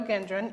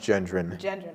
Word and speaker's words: Gendron: high school students gindren and lexi scott welcome to the show hi thank you for having us thank you thanks did i pronounce your name correctly it's pronounced gendron i'm sorry it's okay